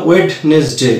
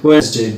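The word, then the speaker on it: Wednesday: আমরা এটাকে বলো ওয়েডনেসডে, অ্যাকচুয়ালি এর সঠিক উচ্চারণ হচ্ছে ওয়েডনেসডে, ডি এখানে সাইলেন্ট থাকে।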